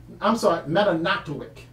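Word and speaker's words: Mamanatowick: Okay, so the Metanotwick, I should say. Metanotwick. It's the proper way to pronounce that.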